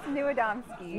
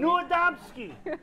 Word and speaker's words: Niewiadomski: Niewiadomski. Niewiadomski.